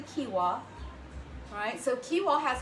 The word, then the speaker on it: quinoa: to use quinoa or I used to pronounce it Noah but it's actually quinoa alright so cue ball